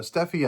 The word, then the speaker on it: Steffi: But this last week, all this started with a friend of mine, Will Steffi, and Steffi, I found out, by the way, is actually how he pronounced his last name, but he never wanted to correct anybody, so I thought that was kind of funny.